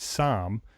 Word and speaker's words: SAAM: Based in Boston, Massachusetts, Diana co-founded SAM. It's spelled S AAAM architecture, SAM architecture.